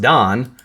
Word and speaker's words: Dan: And they find Danu and Dnepr and Dnestr and Don and all these names all over the rivers, which if you know that Dan is pronounced Don, Danube, Don, Dnipro, Dnestr, like all these rivers are just names that are basically Dan River.